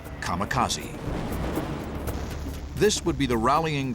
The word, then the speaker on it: kamikaze: They called it divine wind, which in Japanese is pronounced kamikaze.